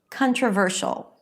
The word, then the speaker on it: controversial: You know that the primary stress should be before the suffix.